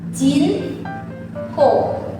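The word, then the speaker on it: 人口: Berarti kanji mulut ini tuh dibacanya kou. Jadi kalau semisal sama kanji orang jadinya jin kou.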